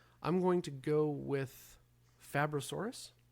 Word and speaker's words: Fabrosaurus: I'm like Fabrosaurus like fabricated like he's just making this up right now.